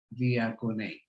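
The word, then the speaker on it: διακονεῖν: Se escribe así como ven en pantalla y se pronuncia diakonein.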